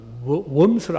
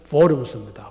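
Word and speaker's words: Worms: 이 글을 쓰고 나서 그 이듬해 이 글 때문에 캐토릭 교회의 아주 강압적인 박해를 받으면서 그 포럼스, 우리 한국에서는 웜스로 알려졌죠. 근데 실제 독일어 발음은 포럼스입니다.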